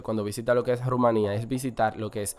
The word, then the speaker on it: Rumanía: Seguimos en Europa y ahora nos vamos a Rumanía, o Rumania, porque generalmente se le dice Rumania, pero como tiene tilde en la I, la correcta pronunciación sería Rumanía.